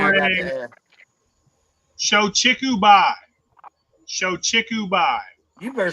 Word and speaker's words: Shochikubai: Shochikubai. Shochikubai. You better spell that shit.